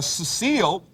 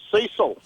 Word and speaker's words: Cecil: Cecile from Texas. How are you tonight? Well, it's Cecil. Cecil. Yeah, my producer pronounced it Cecile.